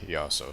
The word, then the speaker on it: Iaso: Jace Iaso, sorry. It's an apostrophe there, you gotta pronounce both syllables.